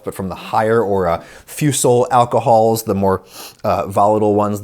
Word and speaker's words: Fusel: So they wouldn't pronounce it fusel. I guess they'd pronounce it something more like fusel.